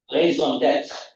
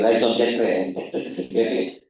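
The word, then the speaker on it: raison d'être: So what is your raison d'etre? Most Malaysians say raison d'etre. Raison d'etre, I checked with my French friend. That's how you should pronounce it.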